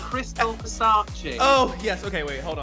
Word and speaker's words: Crystal Versace: you doing hello i'm good thank you you pronounced it wrong it's crystal versace oh yes okay wait hold on hold on